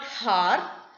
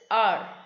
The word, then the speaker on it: hour: was silent there are it is not har it is r and r is time